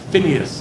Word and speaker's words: Pinchas: Pinchas, Numbers 25 is where we're going to be. Pinchas is Phineas is the way it's pronounced in English. Pinchas.